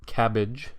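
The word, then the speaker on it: CABG: coronary artery bypass grafts or cabbage as the acronym sort of allows us to pronounce it cabbage is is really only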